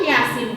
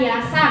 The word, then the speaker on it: Yasin: Contoh Yasin tadi, Yasin, dia kan tetap Yasin kan Bu, bukan Yasa bacanya. Itu dia.